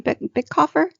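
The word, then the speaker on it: Bitecofer: Bickhofer?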